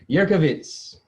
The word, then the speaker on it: Jurkiewicz: I have here Miss Chelsea Jurkiewicz.